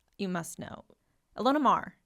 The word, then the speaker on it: Ilona Maher: Do you like, you must know, Ilona Maher Yeah, that's how you say it. Elena Mar. No.